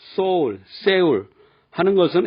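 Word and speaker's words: Seoul: S 뒤에 자음이냐 모음이냐에 따라 발음 차이가 납니다. 그래서 서울, S-E-O-U-L을 외국인들에게 물어보면 soul, soul, 세울 하는 것은 S 다음에 모음 이가 오기 때문에 쌍시옷 발음하기 쉬운 겁니다.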